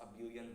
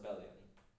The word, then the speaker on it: abelian: People pronounce it abelian, but I pronounce it abelian.